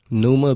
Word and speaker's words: Pneuma: how you came up with this name it's pneuma but it's but spell it for me Numa p-n-e-u-m-a it's the root word for uh pneumonia